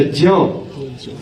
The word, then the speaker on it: यज्ञ: आधा ज और य आधा ज और य क्या बनेगा ज्ञ बोलते है यज्ञ वैज्ञानिक विज्ञान जिज्ञासा इत्यादि